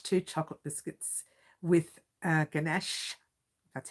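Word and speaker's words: ganache: uh pretty much two chocolate biscuits with uh ganesh that's how it's pronounced uh in between covered in chocolate it's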